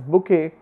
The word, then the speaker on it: bouquet: Yesterday I was talking to you about BOUQET pronounced as bouquet and PSYCHO pronounced as psycho and not as psycho, something like that.